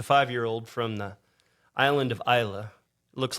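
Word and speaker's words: Islay: Beast it's a 5-year-old from the island of Isa looks like ISL but for everybody out there that if you want to look a little bit more professional when it's Isa is how you pronounce it but uh got a little bit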